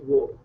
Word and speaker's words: वह: would you pronounce as wo? So you're all right about it. Like वह is a more formal way of saying he or she, but usually on a day-to-day conversation you use wo.